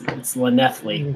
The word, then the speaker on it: Llanelli: So just to go over that, is it Yanelli or Llanelli? It's Llanelli, but Llanelli? But you'd never know by the way it's spelled.